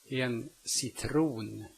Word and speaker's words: citron: The C may also be pronounced like an S when it is located in front of a soft vowel. En cirkus. En cirkus. En citron.